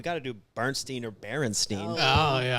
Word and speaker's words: Berenstain: or Berenstein oh yeah because you know when it's spelled it's b-e-r-e-n-e yeah it ends up with the stain yeah ends with a stain just like that junk man it's not Stein I know yeah you're